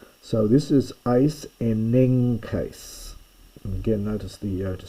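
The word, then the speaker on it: εἰσενέγκῃς: chi, kappa or gamma, this first gamma is pronounced as though it were an N. I won't make it complicated to explain why, but this technically is not really a gamma at all. It's a guttural nasal, but it's written like a gamma and it's pronounced N.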